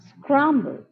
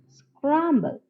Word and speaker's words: scramble: the word scramble scramble though the second syllable contains e we do not pronounce it we just pronounce it as scramble scramble now let us observe